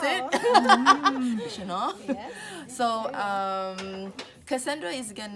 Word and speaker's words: Duchenaud: Is that how you pronounce it? Duchenaud.